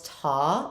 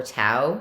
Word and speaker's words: tau: of gamma there's also kendall's ta or tau depending on how you pronounce that greek letter either way it's the